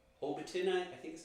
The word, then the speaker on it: Hobbiton: Yeah, you know, we got this little place called Hobbiton, I think is how it's pronounced. Yes, Hobbiton.